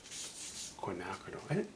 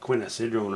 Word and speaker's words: quinacridone: I think what we'll do is quinacridone. I think you used to pronounce that quinacidrone or something.